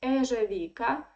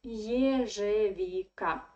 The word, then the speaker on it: ежевика: of the Russian word, you should pronounce it like Е, not like Э. So many foreigners who speak Russian, they try to say ежевика. No, it is ежевика.